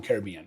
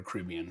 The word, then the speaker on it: Caribbean: Her favorite is Royal um Caribbean or Caribbean, however you want to pronounce it.